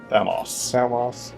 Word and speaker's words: Thamus: Thamos. I'm sorry, it just drives me insane that the end is pronounced like that. Why do you put a U there? Put an O there, you madman!